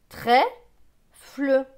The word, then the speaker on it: trèfle: Plus loin, TR, TR se prononce tre avec E accent grave c'est E, donc tre et E, trait. FL, FL se prononce fleu. Avec le E, cela donne fleu. Donc ce mot va se lire trèfle, trèfle.